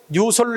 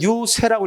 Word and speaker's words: 유세: 여기다가 이렇게 쓰게 되면 이것을 유설로 읽으면 안 돼. 이때는 유세라고 읽어야 돼.